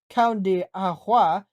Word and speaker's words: Cão de Água: The breed is known in native land as the Cão de Água, pronounced Cão de Água, which means dog of water.